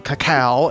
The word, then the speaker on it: cacao: lur is a decadent dessert drink rich in cacao and notes of roasted coffee bean I love